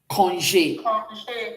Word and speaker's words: congé: So when you put everything together, can you pronounce this for me? Congé. Oui, congé. Okay? So this is like you're saying this. Congé. Can we pronounce this? Everybody? Good. You can see that the E sounded congé.